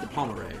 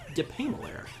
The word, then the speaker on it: De Pamelaire: I've always said De Palmeret, but it's not De Palmeret because that would be spelled different. It's Pem. It's either Pem or Pam. Pamelaire. De Pamelaire. Yeah, that's how you pronounce that.